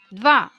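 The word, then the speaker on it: два: Here are all 10 numbers with the pronunciation. Eden, which means 1. Dva, which means 2.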